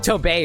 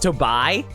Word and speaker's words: Tobey: It is pronounced Tobey, right? It's not pronounced Tobai. Because I heard that his name is supposed to be a pun on much to buy.